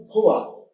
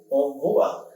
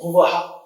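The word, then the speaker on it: भुवः: that we say, Om Bhuva, some people pronounce it as bhuvaha. This creates a certain disturbance while the thought form is being created. So it is recommended to make the pronunciation clean and clear.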